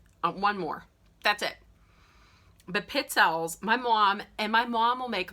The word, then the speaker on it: pizzelle: Some people pronounce them pizzelles or pizzelles.